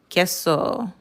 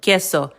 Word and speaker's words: queso: The times when it wouldn't say U, like the word room, is after a G or Q. The U is silent.